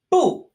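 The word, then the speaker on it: 步: Next, we have the character for step, as in a footstep, pronounced bu. Bu, just like no.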